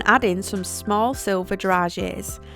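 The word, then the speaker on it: dragées: in some small silver garages I used to pronounce this how it was spelt druggies but it's a bit more sophisticated than that we also want to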